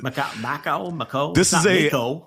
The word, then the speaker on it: Mako: It's not Macau, I don't think, but Mako. This is Mako. It's not great. It wasn't Mako.